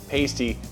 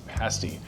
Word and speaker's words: pasty: I have to correct my original pronunciation, which was pasti. That is not the way you say it. It's pasti.